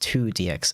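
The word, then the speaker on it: IIDX: very much late response i o i i d x pronounced two dx okay oh of course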